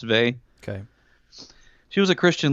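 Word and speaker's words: Weil: an affinity with Simone Bey we have heard of Simone Bey she's a this is a book called gravity and grace but it says while but I guess it's pronounced vay okay she was a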